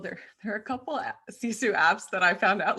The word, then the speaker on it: Sisu: Let me just remind everyone that I'm speaking with Fe Huck, and we're talking about the app CESU. um which is spelled s i su.